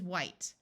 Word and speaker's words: white: W and H together in most of the US sounds like W, but in some parts it sounds like Hw, where the H sound is pronounced before a W rather than the H being silent. So this word is white.